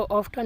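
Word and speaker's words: often: इसको ऑफन नहीं पढ़ते हैं। ऑफ़न पढ़ते हैं तो इसमें टी साइलेंट हो जाता है।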